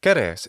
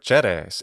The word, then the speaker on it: Ceres: Ceres is the classical Latin pronunciation, or Ceres in the ecclesiastical pronunciation.